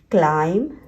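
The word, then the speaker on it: climb: म के बाद हम B को साइलेंट रखते हैं। कॉम, क्लाइम, क्रम, लाइम।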